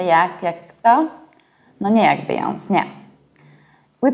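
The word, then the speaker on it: Beyoncé: Do you remember the rule about pronunciation of final E of the words of foreign origin? I talked about it in my film about coffee and beverages.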